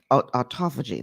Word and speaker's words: autophagy: you heard him talk about this autophagy that autophagy that's how you pronounce it um several times and we're going